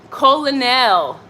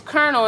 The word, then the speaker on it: colonel: and him kept saying, we kept mispronouncing colonel. And we kept saying, colonnel. And we're like, what the hell is a colonnel? Colonnel. And then, you know, you Google it and then it's colonel and it's like, oh